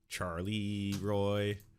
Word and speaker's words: Charleroi: Charleroi, Pennsylvania. Got it? Charlie Roy.